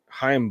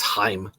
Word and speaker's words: Chaim: Then I saw this other story come out today where Chaim Bloom is actually going to be replacing Mozeliak after the 2025 season.